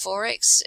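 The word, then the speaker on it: XXXX: we don't really say that um forex is pronounced forex xx it's beer produced in brisbane here in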